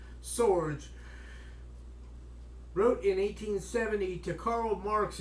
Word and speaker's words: Sorge: labor scene FA Sorge although if he Scandinavian and he might have been he might pronounce his name saga but I'll go with an Americanized pronunciation of swords wrote in 1872 Karl